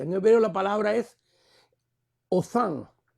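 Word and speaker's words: Hothan: hebreo la palabra es Othan. Si lo pronunciáramos en inglés sería Hotan, pero es H-O-T-H-A-N. H-O-T-H-A-N y la H es silenciosa en el español, por lo tanto es Othan.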